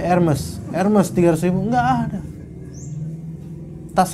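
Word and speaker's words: Hermès: Iya, Hermes bacanya Hermes.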